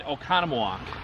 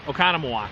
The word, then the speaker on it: Oconomowoc: We are in Oconomowoc. Say it again. Oconomowoc. You do it better than I am. Oconomowoc. Spell it.